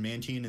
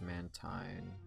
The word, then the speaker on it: Mantine: about its pronunciation but they pronounced it in manchin in the anime so that's how i'm gonna pronounce it i've heard it pronounced mantine by literally everybody so the great vending